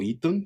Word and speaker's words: Eton: Y él después regresa a Inglaterra, él estudia en un colegio que se llama Eton, me parece, o Eton se pronunciaría, que es un colegio muy importante, donde puede acceder gente de distintas clases sociales, ¿no?